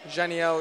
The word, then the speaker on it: Janiel: So like Daniel, but with a J. Janiel, it's pronounced.